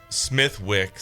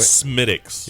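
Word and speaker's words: Smithwick's: Yeah, it's Smith Wicks.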